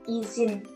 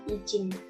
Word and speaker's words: izin: Karena kata izin yang benar adalah kata yang memakai huruf Z, bukan J. Jadi kata izin dibaca izin, bukan izin. Selanjutnya ada kata sekedar.